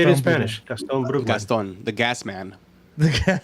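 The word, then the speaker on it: Gastón Brugman: Gaston Brugman.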